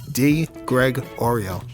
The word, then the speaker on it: DiGregorio: And I always tell people the way to learn how to pronounce it, the letter, the name, the cookie, DiGregorio.